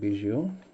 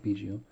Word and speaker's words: Biggio: Starting off with Cavan's dad, it's Craig Biggio. Well, let me say it properly, Craig Biggio.